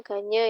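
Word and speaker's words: Gagné: Yang pertama teori belajar Dins, Brunner, Van Hill, Gagne, ini bacanya Gagne ya.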